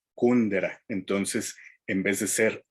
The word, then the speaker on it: Kundera: autor checo milan kundera es decir acentuando su nombre como si fuera una palabra aguda milán y copia de su apellido como si fuera una y lo pronuncian en su propio país y acentuar el nombre como si fuera grave milán y el apellido como si fuera estructura desde una palabra esdrújula kundera entonces en vez de